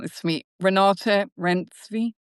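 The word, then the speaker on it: Renate Reinsve: like the girl you're going to have to pronounce this for me Renata Renzvi. Renata Renzva.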